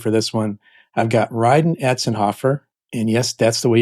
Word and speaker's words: Rhydon Atzenhoff: I've got Rydenhoffer and yes, that's the way you pronounce his name.